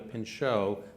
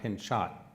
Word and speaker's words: Pinchot: how do you actually come to Pinchot not pinch shot well it's pinch not well and it's not been a thousand other worst variations so pinch shot is